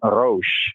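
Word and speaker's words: ראש: in the Arabic, but in the Hebrew, the pronunciation Rosh, head, Ha, the Shana, the head of the year.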